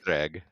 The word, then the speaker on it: Jhereg: was Vlad Taltos and Jhereg with like a Z sound. It was kind of, it was Jhereg. Yeah, it was interesting. I was like, oh, okay, I like this, the way it's pronounced, but So it's definitely like Hungarian / Eastern European.